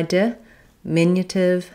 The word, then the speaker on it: diminutive: The di beginning as a prefix when it's short does have the same ih vowel as in the stress syllable. It's just going to be shorter. So I'm going to say ih, ih, di, mi, di, min, but this di is going to be light and short. And my min is going to be a little bit longer in duration.